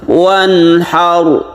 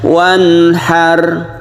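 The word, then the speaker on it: وَانْحَرْ: Demikian juga yang ke huruf maksudnya ayat yang kedua, wanhar, ini juga tebal ro-nya. Huwal abtar. Jadi jangan sampai biasa saja wanhar, huwal abtar. Jadi itu tipis ya. Jangan ditipiskan tapi ditebalkan. Bibir kita agak mencucu sedikit.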